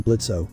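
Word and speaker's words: Blitzø: 3 2 1 On stage in front of open purple curtains, Blitzo glided into view. Hi, I'm Blitz. The O is silent and I'm the founder of IMP.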